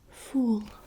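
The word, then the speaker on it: voël: next okay that says fool fool and it means bird bird so it's kind of a little bit like the english word full um this is slightly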